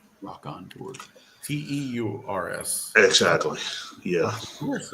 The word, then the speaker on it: Rockonteurs: Rock and Tours, or like Rock N and then Rock. It's spelled ROCKONTEURS. Rock on Tour.